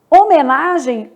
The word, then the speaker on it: homenagem: Homenagem, o H não é pronunciado.